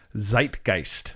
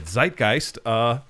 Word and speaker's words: Zeitgeist: Zeitgeist. Zeitgeist. And you looked that word up. What is it? I did. Zeitgeist.